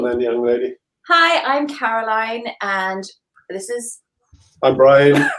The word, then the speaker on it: Caroline: I was called her Caroline. It's actually Caroline, like Sweet Caroline. So take it away, guys. Introduce yourselves. Go on then, young lady. Hi, I'm Caroline, and this is...